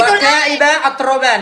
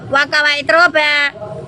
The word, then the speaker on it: وكواعب أترابا: وكواعب أترابا itu Oke, itu wakaiba atroban. Oke, apa artinya? وكواعب أترابا bukan wakawa atroba. Wakaiba atroban.